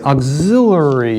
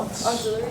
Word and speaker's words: auxiliary: It's AUXI, I have to look at my notes, LL, like LL Cool J, auxiliary equation.